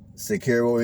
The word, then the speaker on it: Cicero: here i will be entering the city of sicario indiana that is spelled c-i-c-e-r-o now this community is here in